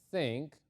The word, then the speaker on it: think: pronunciar como teng ok recuerden que la th en inglés tiene un sonido parecido a la z del español que se habla en españa cuando decimos zapato ellos dicen en españa dicen zapato es el sonido del zapato es el sonido de la th entonces para pronunciar el verbo zinc lo tenemos que hacer de esta manera no tengo sí no